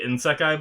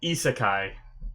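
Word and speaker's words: isekai: a sec I think I was calling it in sekai before I think is ISA ISA Kai is how you say it sorry if I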